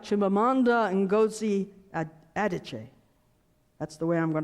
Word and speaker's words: Chimamanda Ngozi Adichie: but will not do correctly it's something like Chimamanda Ngozi Adichie that's the way I'm going to pronounce it well hope that's close she's a